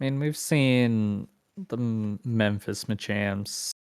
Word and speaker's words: Machamps: we've seen the memphis machamps i keep wanting to say may champs and that is not how you say it but i mean we've